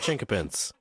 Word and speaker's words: chinquapin: what we got to we got to understand the pronunciation chinka pin okay a pin it's not qu like a q so that's the old spelling but you also see it spelled with a K it's been it's been